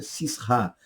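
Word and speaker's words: Sísera: Já visto o fato de que o hebraico é Cisra. Cisra seria a pronúncia hebraica. Cisra, Cisra, da ideia mais de Cícera do que Císera.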